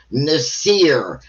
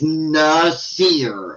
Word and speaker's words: Nasir: That's just, I don't want her to say, Nasir said, Nasir, by the way, that is how you say my fucking name, you idiot. It's Nasir. It's just like it's spelled.